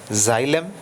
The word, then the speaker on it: xylem: Xylem, this tissue is pronounced as xylem tissue, and the pronunciation of this second tissue is the phloem tissue, phloem, phloem tissue.